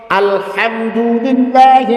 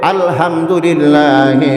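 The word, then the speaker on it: الحمد لله: এমন একটা ভাষা কোরআন এমন একটা ভাষা এর উচ্চারণ যদি ঠিক না হয় অর্থ পরিবর্তন হয় গুনাহে কবিরা আমলনামায় লেখা হয় উদাহরণস্বরূপ আলহামদুলিল্লাহি রাব্বিল আলামিন যাবতীয় প্রশংসা সমস্ত প্রশংসা আল্লাহ তাআলার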